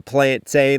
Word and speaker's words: plantain: And I'm using plantain like rhyming with plane.